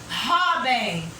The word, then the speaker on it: Robin: Outra aqui, Robin. Robin, jovem. Robin vai levar acento? Não. Por quê? Ro é a sílaba tônica, é a penúltima, porém, ela terminou em N.